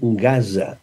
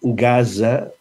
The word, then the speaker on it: Gaza: I, naturalment, Gaza, la Z, sempre, ja ho sabeu, sempre, en valencià, és sonora. Per tant, hem de dir Franja de Gaza.